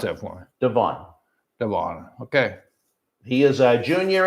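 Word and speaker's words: Devaughn: Pronounce that for me. Devon.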